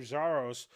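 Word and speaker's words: Xiarhos: these guys drove for hours and uh representative zaros um which is interestingly pronounced uh xia spelled I mean xia r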